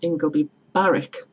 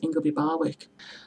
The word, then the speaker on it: Ingleby Barwick: yeah well the place in Stockton is called ingoby Barrick loads of people pronounce ingleby Barwick another mispronounced place name is actually Middlesbrough itself